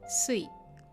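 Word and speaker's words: 水: Sui. The onyomi for mizu or sui is sui. So when you see the kanji mizu or sui combined in a word with other kanji, you read it as sui.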